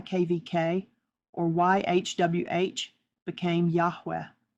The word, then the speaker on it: Yahweh: KVK or YHWH became Yahweh, which though pronouncable mimic the sound of a breath with the first syllable done on an inhalation, sounding like Yah and the exhalation sounding like way.